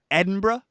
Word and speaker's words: Edinburgh: to pronounce them right it's ed in bra and bra and bra so three syllables Edinburgh Edinburgh and etc and